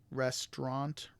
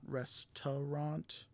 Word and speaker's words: restaurant: and the last one restaurant restaurant not restaurant and so moving on